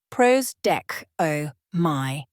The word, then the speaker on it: prosdechomai: The Greek word prostcomi pronounced pros deco my literally means to receive toward oneself or to await with expectation.